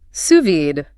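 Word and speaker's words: sous vide: And suvid pronounced suvid, French for under vacuum.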